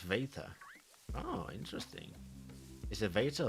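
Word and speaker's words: βήτα: The Greek letters beta is actually pronounced veta.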